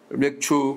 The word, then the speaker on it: 맥추: 오늘은 맥추절 맥추 감사 주일입니다. 발음을 잘해야 됩니다. 맥추 저는 정확하게 맥추라고 했는데 우리 전사님 가사님은 자꾸 맥주라고 듣습니다.